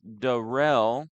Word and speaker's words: Derell: Chris's last name is pronounced Chris Derell.